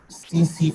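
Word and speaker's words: tsetse: इट is transmitted by सीसी फ्लाई, इसमें T silent है दो, ठीक है, सीसी फ्लाई, और इट is caused by Trypanosoma brucei rodents and Trypanosoma brucei gambians.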